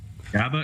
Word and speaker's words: GABA: I'm not sure how you pronounce it there, Dr. Nutt, but thanks for being with us. GABA is right.